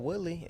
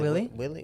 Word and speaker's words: Woodley: What's name's gonna fight Woodley and Woodley gonna give him the hand. Is it Willie?